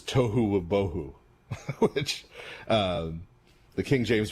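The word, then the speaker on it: tohu va-bohu: Uh in in Hebrew, it's funny because it rhymes. Uh the world is tohu boho which um the King James version translates as uh formless and void without form.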